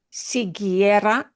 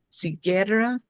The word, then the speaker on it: siguiera: You don't normally see that many vowels together in Spanish, but siguiera, that U is silent. It's one of the few times that a vowel goes silent.